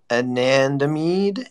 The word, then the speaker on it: anandamide: So, ways to boost your anandamide.